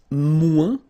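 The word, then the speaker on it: moins: to say less it's mu in French so no discussion about the S here don't pronounce it okay and then you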